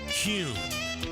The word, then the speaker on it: Kuhn: And now, I'm going to share the absolute right way to pronounce Kuhn flowers. It's Kuhn. Kuhn flowers. Remember, use Kuhn flowers.